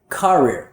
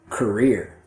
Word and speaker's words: career: teachers that aren't native pronounce the word career, career, but that's the wrong rhythm pattern. You need to instead stress the second syllable, so it should be career, career.